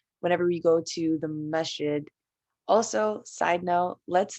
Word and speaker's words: masjid: you said to not call a mosque oh masjid yeah okay yeah that's how you say it